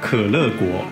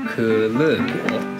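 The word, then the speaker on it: 可乐果: 可乐果。可乐果。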